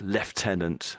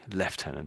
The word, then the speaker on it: lieutenant: So it's a bit like lieutenant and lieutenant. The Americans say lieutenant, the British say lieutenant.